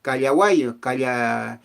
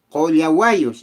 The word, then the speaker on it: collahuayos: Hay un especial, un pueblo exclusivo que se llaman los callahuayos, callahuayos como dicen, collahuayos, eso es su correcta pronunciación, collahuayos, o sea, los que llevan su bolso de medicina.